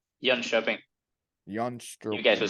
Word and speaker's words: Jönköping: Jönköping.